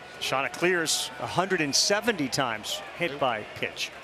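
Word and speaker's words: Cleers: The Shants are making sure everybody knows how to pronounce their name. Oh yeah, Kevin Schnall's running around making sure it's Shant to Clears, C-L-E-E-R-S.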